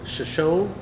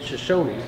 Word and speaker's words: Shoshone: the visitor center, and both Shoshone and Shoshone are technically correct. It's the Shoshone Indian tribe, but most of the locals will just pronounce it as Shoshone.